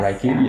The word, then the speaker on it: Reiki: as well and she also just recently learned Reiki so am I pronouncing that right yeah Reiki yes okay perfect and we just wanted to